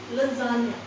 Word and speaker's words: lasagna: देखिए, lasagna, ये S ना करके Z कर लीजिए. lasagna.